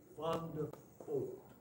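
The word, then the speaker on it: Vandervoort: But none of the red, V-A-N-D-E-R-V-O-O-R-T. But these are pronounced F's in Dutch. Fondefort. And so none of the rednecks down in South Mississippi could say Fondefort very good.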